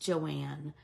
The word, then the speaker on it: Joan: thank you Kels so it's spelled Joan but it's pronounced Joanne but if you just